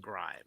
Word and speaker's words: Grim: You know, his name's pronounced grime, right? It's cuz he's grim tides, but I'm making sure they're all safe.